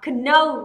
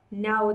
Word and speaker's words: know: Biết, chúng ta lại đọc là know là sai rồi, know thôi đúng không? Âm ca đến trước âm n là âm ca phải cầm, đúng không nào?